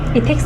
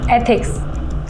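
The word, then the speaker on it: ethics: इथिक्स नहीं, एथिक्स, ऐसे pronounce करो।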